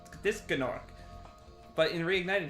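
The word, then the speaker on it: Gnorc: that was like this gnark but in reignited he just says Nork and it's very upsetting I mean that's how you say it it's like gnome um he said also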